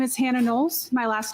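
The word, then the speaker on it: Knowles: We're doing Hannah Nolles.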